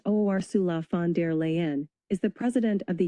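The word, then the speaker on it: Ursula von der Leyen: Ursula Vanderlean pronounced Osula Fandere Leen is the president of the European Commission.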